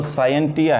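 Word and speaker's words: scientia: साइंटिया, सही pronunciation अगर देखा जाए तो साइंटिया है।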